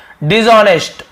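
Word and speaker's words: dishonest: तो देखिए भ्रष्ट का बेईमान भी होता है, तो यहाँ पे आपको मिल गया डिसऑनेस्ट, ऑनेस्ट, डिसऑनेस्ट, H silent होता है लेकिन लिखते हैं डिसऑनेस्ट यानी बेईमान, भ्रष्ट होना।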